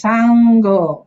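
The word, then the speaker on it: saṅgho: s ah yes so the N with the dot is always NG yes Sango correct yes so also we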